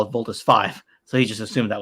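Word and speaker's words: Voltes V: I actually asked Ken earlier, do we pronounce Voltus 5 or Voltus V? Voltus and he says 5. Everyone calls it V. Everyone Voltus, says Voltus V.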